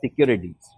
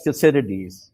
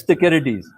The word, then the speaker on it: Thucydides: section of this program, I'm so happy that you pronounced it as Thucydides. Because when I talk to my American friends, they pronounce it as Thucydides. So I tell them that you cannot pronounce it Clytemnestra. It is Clytemnestra. Greek does not have the C sound. So yes, it's Thucydides. And on that note, thank